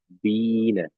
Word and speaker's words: Biene: Nah, ini kalau huruf I bertemu E, maka dia dibacanya tetap I tapi panjang I-nya ya. Jadi seperti ditahan. Jadinya di sini bacanya apa? Bine ya. Bine ya, jangan dibaca Bine tapi Bine ya.